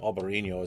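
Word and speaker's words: Albariño: and it's not really pronounced that way but albarino is how you pronounce it just got an h-o on the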